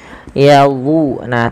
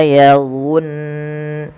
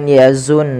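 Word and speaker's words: يَظُنُّونَ: itu yang ada kelincinya yadu. Nah, tapi pangkal lidahnya diangkat dan apa? Lidah kita mendekati langit-langit atas karena melekat dia karena dia ee itb. Nah, maka illa yadun bukan yazun nun tapi yadun nun.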